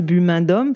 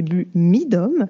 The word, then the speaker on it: BUMIDOM: Je vais très certainement prononcer BUMIDOM, parce que ça va faire des mois qu'on parle de ça avec Mélissa. Je le prononce toujours mal. Je vais dire BUMIDOM, mais c'est BUMIDOM.